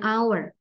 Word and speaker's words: hour: benda ya dengan huruf yang ada huruf h-nya tapi dia silent an hour not an hour but an hour ya jadi eh sebuah waktu sebuah jam ini h-nya Hnya enggak disebutkan ya Hnya enggak diucapkan Ya an hour jadi